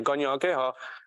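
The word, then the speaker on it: Kanien'kéha: So the language you just heard was Ganya Geha, which you pronounced so perfectly, Ganya Geha, and that's Mohawk language if you've heard it.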